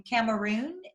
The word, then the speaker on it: Cameroon: a background on fabian he was born in cameroon is that how you pronounce it yep correct okay uh africa he